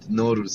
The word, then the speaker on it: Nowruz: Yeah, Persian New Year called Nowruz.